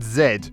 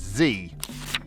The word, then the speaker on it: zed: to two toddlers that it's pronounced zed when every single song tv show toy etc says zee definitely say that so